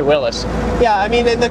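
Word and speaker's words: Willys: the word is because there is some disagreement in whether or not you pronounce it Willis or Willies yeah see I've heard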